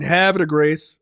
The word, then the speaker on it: Havre de Grace: They stay way the fuck out in Havre de Grace. If you're from France, I'm sorry. It's pronounced horribly. I understand how Americans say it.